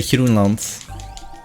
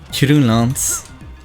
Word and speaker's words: Groenland: And he doesn't use the hard G. For example, Greenland. We call it Groenland, but he would say Groenland. I got hit? Oh, okay. Groenland. With a soft... shit. Okay, nice, I messed up. With a soft G.